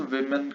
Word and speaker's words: women: Changing the vowel in the middle, जैसे woman है तो इसमें man को men कर दिया, woman, women, इसको प्रोनाउंस women करते हैं।